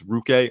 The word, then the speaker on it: Ruke: Ruke, I think it's Ruke a rubber row. That's how you pronounce it, a rubber row.